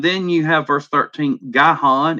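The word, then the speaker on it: Gihon: you have verse 13 guy Han is how I have always pronounced that goes around the whole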